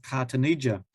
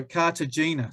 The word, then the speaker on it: Cartagena: this port over here called cartonija and so cartagena sorry i spelled said it wrong and and